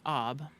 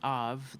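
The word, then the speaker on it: אב: Well, when you put Aleph, the head, with Beit, the house, you get Ab, or it could be Av. That letter Beit can be pronounced like a V sound.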